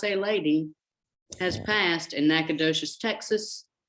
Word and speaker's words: Nacogdoches: passed in Nacogdoches, Texas, which you should know is pronounced like your toes in Corpus Christi sand, not like the slap and dash verbal clip of a Cajun syllable slipping mouth, which lives in the other Natchitoches, the Louisiana Bayou, slippery tongue one.